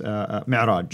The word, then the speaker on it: Mi'raj: But that's where, called the Miraj. How do you pronounce it? Yes, Mi'raj.